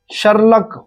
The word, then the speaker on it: Sherlock: Edmond Locard को France का शर्लक Holmes, SHERLOCK, शर्लक Holmes, यहां पे एल साइलेंट है, शर्लक होम्स कहा जाता है।